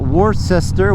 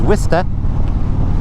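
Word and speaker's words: Worcester: You got uh skituit which is actually situ and uh you got warester which is wist you know.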